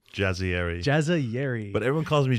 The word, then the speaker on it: Jazayeri: Jazzieri.